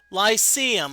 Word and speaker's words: Lyceum: Oh, Lyceum, okay. Okay. Thank you for the pronunciation corrections.